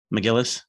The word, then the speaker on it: McGillis: imagine that being kelly mcginnis from the first and i'm saying the name wrong what's her name mcgillis nicholas again mcgillis yeah